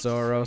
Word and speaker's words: Zoro: They were like, well, name him Zolo, but in Japanese it's pronounced Zoro, so it's what we want to be in the beginning anyway.